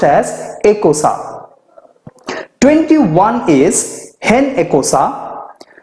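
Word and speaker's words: icosane: team after Dec 19 non addict 20 is a casa di CE o s it's pronounced as a casa 21 is hen a cosa 22 de casa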